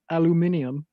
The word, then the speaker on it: aluminium: First off, it's pronounced aluminium.